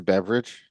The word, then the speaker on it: Beveridge: His last name really is Beverage. It's spelled a little differently, but it is in fact Beveridge.